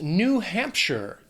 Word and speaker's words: New Hampshire: Now, that last syllable, it's not Shire. It's not like Frodo in the Shire. It's sure. New Hampshire.